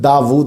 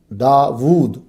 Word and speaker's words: داود: اسم داود قرآن مجید میں 16 مرتبہ آیا ہے۔ اس کا تلفظ داود ہے، ہم داود بھی کہتے ہیں، وا الٹا پیش وو، داود۔ یہ اسم جو ہے